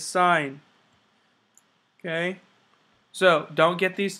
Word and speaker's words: sin: of writing sign as s i n e we abbreviate it as s i n so again it looks like sin but it's not it's sign okay so don't get